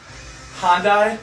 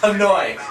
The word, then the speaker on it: Hanoi: we're playing on um hondai said it wrong tell me say it out loud what hanoy thank you friend that